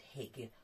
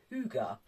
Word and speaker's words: Hygge: h-y-g-g-e now I used to think it said Hig or something of that um nature I have more recently been told that actually it is pronounced Huga and it is a Danish philosophy that has